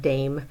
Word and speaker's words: dame: that as English speakers, we would more than likely pronounce that word dame, because in English we have a silent E. We don't have silent E's in Spanish. So it's dame cinco, give me 5, and that's for quiet.